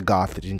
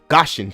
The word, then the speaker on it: Gaussian: me it's over because we're not under the gothician channel excuse me gothicson it's such a hard word to pronounce gaussian Channel okay the GC we're not under the